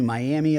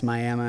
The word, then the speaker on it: Miami: they're be like oh yeah I went to Miami Oklahoma and we're like that's Miama and they're like I went to tiua we're